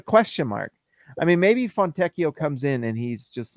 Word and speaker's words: Fontecchio: just looking at Simone fontecchio is it fontecio from techio I I am not an Italian speaker but I know that Pinocchio is pronounced oh that's true like but like Pinocchio fatecchio okay there we go now